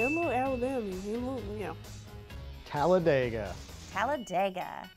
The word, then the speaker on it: Talladega: You pronounce it Dega if you are saying the race, but it's Talladega according to everyone that lives there.